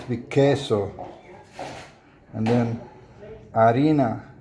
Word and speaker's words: harina: And then harina. Cuz you don't pronounce the h in Spanish.